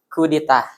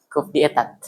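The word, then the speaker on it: coup d'état: It pronounced coup d'etat, coup d'etat.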